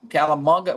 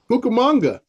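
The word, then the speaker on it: Cucamonga: I think that's because I said calam calamonga. What is it? Cookamonga. Oh, hugamonga. Maybe I said it wrong.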